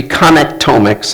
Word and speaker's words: connectomics: did it would be genomics it would be connect omics and I know this is a new term for most of you so I have brought the dictionary definition of connect omics here it's pronounced connectomics was AI so most